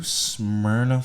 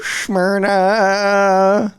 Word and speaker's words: Smyrna: yet what a beautiful night in new smyrna florida new smyrna s-n-y-r-n-a is that you spell it yeah that's it s-m-y-r-n-a smyrna smyrna beach